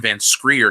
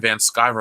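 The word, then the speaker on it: Van Sciver: I used to think his name was Ethan Van Screer because I couldn't read somehow. So when I heard him say his name was Ethan Van Skyver, I went, oh, shit.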